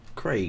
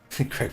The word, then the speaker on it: Craig: So his name's Craig, but he was saying people pronounce it like Greg, but with a K. Craig And he said that kind of annoyed...